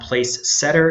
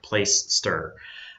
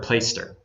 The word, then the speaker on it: Placester: place Esther place ster it's pronounced like play you're playing out in the yard and stir like you stir a drink place stir or play stir okay so we just